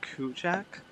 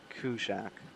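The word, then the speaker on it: Kuujjuaq: Anyways, I think it's pronounced Kujak, or I'll just spell it. Kilo Uniform Juliet Alpha Quebec, Kujak, or Kujwak.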